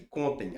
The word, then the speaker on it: contem: As garotas esperem as a garota não espera que contem. Agora já vai contar. Ela não tem acento não, porque a sílaba tônica tá aqui, ó. Contem. Não, paroxítono, não vai cair nessa pegadinha, não.